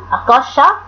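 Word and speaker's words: acacia: A C A حرف C A يا ولاد بينطق كا بينطق كا. بعد كده C I A بينطق شا بينطق شا. يبقى اسمها أكاشيا أكاشا أكاشا تري أكاشا تري. يبقى C A بتنطق كا وC I A بتنطق شا.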